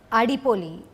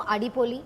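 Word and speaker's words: അടിപൊളി: Adipoli. Oh, Did I say thank that you. right? Did I say it right? Adipoli. Adipoli is right.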